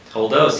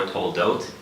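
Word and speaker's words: תולדות: Toldos, yes, Parshas Toldos, or Toldot, depending on the pronunciation, Ashkenazi or Sephardic, Toldot or Toldos.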